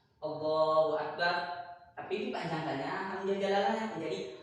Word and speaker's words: Allahu Akbar: Dan yang kedelapan, syarat yang kedelapan itu tidak boleh menambahkan waw sebelum hamzah jalalah. Contohnya seperti ini, Allahu Akbar, katanya bacanya Allahu Akbar, ditambahnya waw sini menjadi Wallahu Akbar, maka tidak diperbolehkan juga.